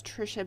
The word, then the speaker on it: Tricia: uh my email address my name is trisha but it's spelled t-r-i-c-i-a at atharva dot solutions